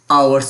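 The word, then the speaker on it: hours: ও ইউ আর এস এইচ এর উচ্চারণ হবে না আওয়ারস হবে কি হবে ওর উচ্চারণ হবে আওয়ারস আওয়ারস এইচ ও ইউ আর এস হাওয়ারস হবে না আওয়ারস ঘন্টা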